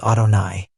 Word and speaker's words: Adonai: Adni, meaning Lord and pronounced by us Adonai.